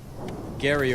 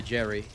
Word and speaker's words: Gary: Hopefully that's what uh Gary over there means. And sorry, dude. I'm not calling you Jerry. Your name is spelled with a G, so you're getting called Gary.